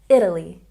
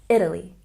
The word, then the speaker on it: Italy: So here we stress the first syllable, Italy, Italy. Once again, Italy.